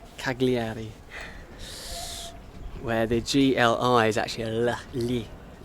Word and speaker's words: Cagliari: ask any european and you ask them to pronounce this place especially the english they'd say cagliari which is absolutely wrong cagliari where the gli is actually so i find